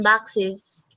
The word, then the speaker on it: boxes: How can you Boxes. Boxes. Boxes. Alair, can you Boxes. Boxes. correct? You feel the vibration of your throat? Yes. Yes, yes. Yes, and Boxes. yeah, Boxes. boxes. There is a vibration.